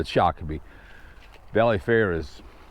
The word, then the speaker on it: Shakopee: going to find right people can't pronounce Shiki they always say Shiki instead of shaki it's like uh people